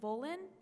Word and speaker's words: Volin: And I had a quick question for Councilman Volin. Is that correct? Am I pronouncing that correctly?